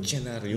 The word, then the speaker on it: lucernarium: Actually lucharium. Luchenarium. Yeah. Luchenarium. Is that Is that how they pronounce it in Spanish? In in Yeah. In Latin.